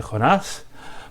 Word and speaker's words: Joná: Procedamos ahora a leer esta brevísima historia de Jonás, pronunciado aquí Joná en la traducción que hice para mi libro.